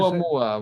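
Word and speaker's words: ʻOumuamua: Oumuamua was the first one.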